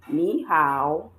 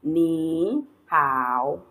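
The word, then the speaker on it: 你好: The way you pronounce this will be ni hao and not ni hao.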